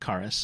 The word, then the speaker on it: Charis: looks like karis karis it's not spelled charis it's spelled c-h-a-r-i-a-s c-h-a-r-i-s i-s o-okay i'm i missed